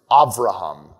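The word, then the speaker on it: אברהם: That's why Abraham is Avraham, father of many nations.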